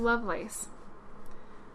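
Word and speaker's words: Lovelace: lace Loveless um huh is it love lace or is less I'm pretty sure it's love lace that's how they pronounced it in the movie but maybe that just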